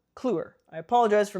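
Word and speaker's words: Kliewer: Also written by Marcus Clure, not Clever. Cluer.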